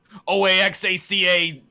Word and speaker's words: Oaxaca: Don't make fun of me about how the way I pronounce Jala. You know how Hala. they spell Oaxaca? Yala. Oaxaca.